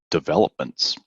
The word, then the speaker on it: development: word developments that's it that's it development yeah very nice it's it's really the the stress is on the second syllable here developments right and